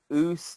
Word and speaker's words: Uce: When we say Oos, y'all say O, and Oos, if I remember correctly, is spelled UCE.